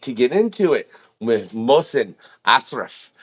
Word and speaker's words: Mohsen Ashraf: It's pronounced Mohsen Ashraf, but I feel like you rolled with it fairly well.